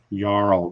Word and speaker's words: jarl: standing below the battlefield jarl okay don't pronounce the j on that sorry don't put it no yarl then uh they're the